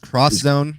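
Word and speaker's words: X Zone: pronounced cross it's pronounced cross Zone that's how the Japanese say it because it's not an X remember for your PlayStation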